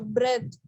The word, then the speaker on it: breath: Okay, so breath. When it is used as noun, you have to say it like, when you have to pronounce it like breath. I hold my breath.